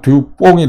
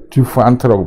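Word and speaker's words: DuPont: 컴퍼니 이렇게 이름이 긴데, 그래서 commonly called 이제 듀퐁 이렇게인데, 이게 불어식으로 읽으면 듀뽕이 되죠. 듀뽕이 되는데, 이게 영어로 읽으면 T를 발음을 해야 되니까 듀판트라고 발음을 해야 된다고 하네요.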